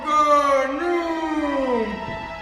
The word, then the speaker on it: Khnum: I am Ganum. That's Khnum. The H is silent.